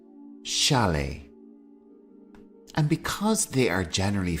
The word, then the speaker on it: chalet: is called a chalet the T here at the end of the word is silent shalet and because they are